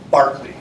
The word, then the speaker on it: Berkeley: So it's Barkley. Barkley sounds Barkley. Yes, it looks like Berkeley with the E. I get it. It's a little different California. So forget Barkley.